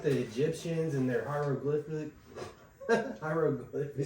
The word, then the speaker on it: hieroglyphics: Hieroglyphics.